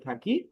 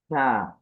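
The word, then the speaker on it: ثاء: তারপর আমরা শিখেছিলাম হচ্ছে থা, থা। থা উচ্চারণের ক্ষেত্রে আমাদের উচ্চারণের পদ্ধতি ছিল জিহ্বার আগা, দাঁতের আগা, নরম আওয়াজ, কম টান। এই জিহ্বার আগা, দাঁতের আগা, নরম আওয়াজ হবে আর কম টান হবে।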